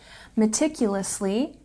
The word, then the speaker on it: meticulously: you can say meticulously meticulously has a stress on the second syllable it's a bit long